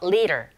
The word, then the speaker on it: leader: 드가 아닌 르에 가깝게 들려서 leader. Leader.